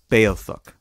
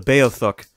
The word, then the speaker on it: Beothuk: There, before the arrival of the Europeans, was a small native population known as the Beothuk. There's several ways to pronounce that, and that's how I'm deciding to do it.